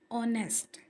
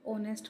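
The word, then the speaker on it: honest: ऑनेस्ट students, हमने पीछे silent letters में भी ऑनेस्ट पढ़ा था जिसमें एच जो था, वह साइलेंट था। इसलिए ओ से आवाज इसकी स्टार्ट हो रही है।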